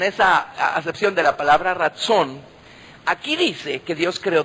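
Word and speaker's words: רצון: Es una palabra hebrea que se pronuncia así. Ratzón, ¿verdad?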